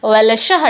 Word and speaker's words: वलशः: यहाँ पे और एक एक्स्ट्रा लॉ हमको, वलशः वलशः, देखिए उच्चारण करके कभी देखेंगे इसको, वलशः डबल लॉ जैसा सुनाई देता है पर हम लिखते नहीं हैं, तो यही है, ये भी स्वरभक्ति है।